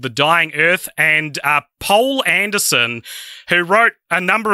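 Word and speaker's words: Poul: Might be pronounced Paul, but it's spelled P-O-U-L, so I don't know.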